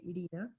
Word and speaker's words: Irina: arrived they asked me so how do you pronounce her name I say Elina they were like what El what en uh